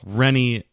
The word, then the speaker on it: Rennie: Rennie is the final girl. Yeah. I always remember her name because it rhymes with my favorite final girl named Jenny.